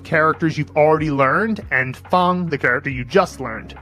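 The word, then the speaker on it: 方: You'll use the Henza movie method to remember that it means square, that it's pronounced fun.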